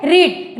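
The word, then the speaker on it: read: ठीक, main verb यहाँ क्या है, रीड। रीड का third form, रीड, रेड, रेड, लेकिन स्पेलिंग इसका वही होता है, प्रोनाउंसिएशन बस थोड़ा सा अलग होता है।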